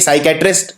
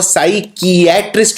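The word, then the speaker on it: psychiatrist: Exam में आती है, क्योंकि इसमें P साइलेंट होता है। क्योंकि साइकेट्रिस्ट जब हम बोलते हैं तो साई, P नहीं, P का उच्चारण नहीं किया जाता।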